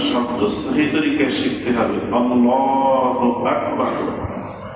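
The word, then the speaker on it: الله أكبر: আল্লাহু আকবার। আল্লাহ এখানে এক আলিফ টান আছে আকবার এখানে কোন টান নাই এই পুরা শব্দটার ভিতরে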